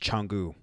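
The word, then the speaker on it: Canggu: it's CA ng g you but it's it's pronounced Changu jungle was cool a lot of good restaurants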